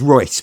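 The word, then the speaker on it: Reuss: I mean, I love the House of Rouse. It's Royce, but yes. Yeah. I mean, I always go with Rouse because I can never not pronounce it like it's Disney.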